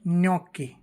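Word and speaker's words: gnocchi: है नए की तरह यानी यदि जी के बाद एन आता है तो जी एन का उच्चारण नय या जो हम इ पढ़ते हैं उसकी तरह होता है जैसे से न्यूकी जी एन O double C एच I Noki न्योकी यानी न्यूकी होती है न्योकी इटालियन एक पास्ता होता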